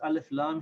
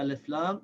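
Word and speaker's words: ال: carry a shed and there are certain letters of the alphabet that when they follow the alif laam they will not have a shot the alarm will in alif laam will be pronounced with Serkan and the letter will have it a valve on it but for the other letters the LAN will be silent and the letter will have a shed like you see here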